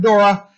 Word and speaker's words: Dura: knows where it is the plane of dura we'll accept Dora as an English pronunciation all right very good all right Hazel okay uh did we do prisoner for 500.